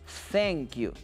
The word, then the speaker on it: thank you: Thank you. ¿Se acuerdan que les dije que podríamos llegar a esta pronunciación poniendo la punta de nuestra lengua en la punta de nuestros dientes. Lo vamos a hacer cada vez que tengamos esta palabra, ¿ok?